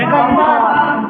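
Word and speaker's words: confirm: कन्फर्म कम क्या बोलेंगे कंफर्म कन्फर्म बोलेंगे कंफर्म है ना यस सर बिकॉज क्योंकि सीओ एन एफ आई आर एम आर के पहले आई है ना यहां भी आर साइलेंट हो जाएगा यहां भी आ साइलेंट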